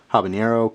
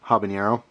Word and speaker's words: habanero: I always say uh habanero it's just how I say it I believe the pron the correct uh pronunciation is abanero or something like that I know the H isn't really pronounced but anyway it's just